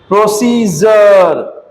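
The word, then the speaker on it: procedure: प्रोसीजर प्रोसीजर प्रोसीजर प्रोसीजर, है ना। तो डी के बाद ये सारे शब्द आ जाएंगे, ध्यान रखिएगा कि डी का उच्चारण क्या कर चलेंगे? ज लेकर।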